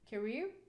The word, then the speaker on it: career: the general rule okay we have career okay here you can see the first syllable is contains or the peak here is schwa cell you cannot stress weak syllable so we have to put the stress on the second syllable as you hear you